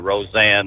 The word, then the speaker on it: Rosanne: l a n d and uh Rosanne like in Rosanne bar but uh this this